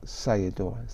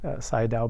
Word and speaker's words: Sayadaw: the Venable Park out say adores that right say down but yes I yeah